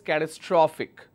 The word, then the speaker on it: catastrophic: is my last syllable I will focus on draw that's why I pronounce this as catastrophic all right so my